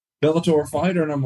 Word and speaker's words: Bellator: this uh bill I don't know how you pronounce is a Bellator yeah it's Bellator Bellator fighter and I'm like all right let's do